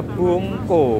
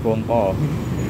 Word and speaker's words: bungko: Ada pelas, ada bungko. Bungko ya bacanya, bukan bongko. Kalau bongko mati.